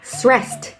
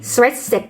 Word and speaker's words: stressed: ดู คำ แรก ค่ะ คำ ว่า stressed ไม่ ใช่ stressed นะ คะ อ่าน ว่า stressed ทหาร ค่ะ stress stressed อีก